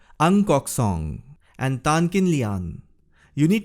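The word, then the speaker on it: Ng Kok Song: they are NG song NG is pronounced as angkok song and tankin Lian you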